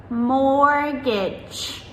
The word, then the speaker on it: mortgage: So words like mortgage, mortgage, M-O-R-T-G-A-G-E.